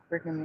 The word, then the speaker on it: Brigham: Brigham Young.